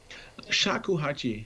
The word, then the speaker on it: shakuhachi: food i forget how you depend how to pronounce the name of it say say it again shakuhachi shakuhachi so so i mean there is a